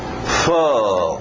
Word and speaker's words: full: coisas ocorrem parttime parttime full nada de fo full é um tolo escrito de outro jeito aquele soco na barriga som de aquele som importantíssimo para alguns do nossos verbos auxiliares então full e para no L Full Time período meio